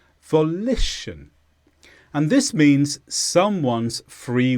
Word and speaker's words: volition: this is a noun the stress is on lit volition and this means someone's